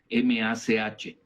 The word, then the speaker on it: Mach: Se le llama en inglés Mach, M-A-C-H. Se pronuncia Mach, ¿no?